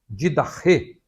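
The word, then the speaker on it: Διδαχή: No Novo Testamento, o termo doutrina, didache, que nós falamos didache também, né? Uma pronúncia mais próxima do grego seria didache.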